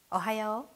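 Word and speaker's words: おはよう: Ohayo.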